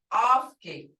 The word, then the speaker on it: ofki: So it's ofki. Hear that? Ofki, as in English father.